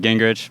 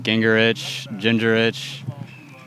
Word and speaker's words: Gingerich: We always pronounce it Gingerich, but there's a lot of, people say Gingerich.